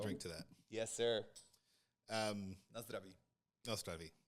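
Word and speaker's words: Na zdraví: No Zdraví. Did I say it right? Yeah. He's a little harder on the R.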